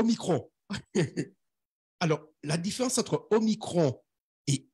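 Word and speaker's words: omicron: alors la différence entre au micro et Oméga les deux se prononcent la même façon au micro se prononce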